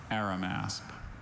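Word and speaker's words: Arimasp: Are there any alternate pronunciations? Just the one, Aramasp.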